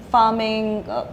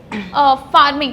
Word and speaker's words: pharming: You mentioned farming. Is it farming or harming? What is it? Yeah, so it's spelled as PHARMING, and yeah, so it's